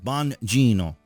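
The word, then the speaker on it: Bongino: another story but anyway Don Bonino is Bonino if you want to use the Italian pronunciation of course talking about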